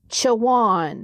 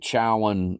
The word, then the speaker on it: Chowan: was formed from birdie c um is it pronounce it for me chawan chawan yep chawan I keep calling it chowan and co cowan and all that it's ch